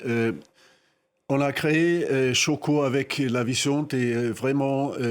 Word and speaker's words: Xoko: Mais dans une filière qui peut être très problématique comme le cacao, c'est un bonheur d'avoir des acteurs comme Choco euh qui s'écrit Xoko, mais c'est un bonheur de pouvoir les avoir avec eux.